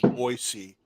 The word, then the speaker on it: Boise: Somebody did a song called It's Pronounced Boise, not Boise.